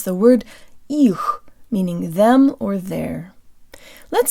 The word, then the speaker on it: их: to pronounce the word их, meaning them or their. Let's say this word with good Russian default mouth position. Jaw slightly forward, tip of the tongue behind the bottom teeth, lips rounded and protruded.